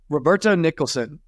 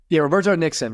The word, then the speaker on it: Roberto Nixon: Also, Roberto Nicholson, I believe is how you say his last name. Let me make sure I say that right. Roberto Nixon.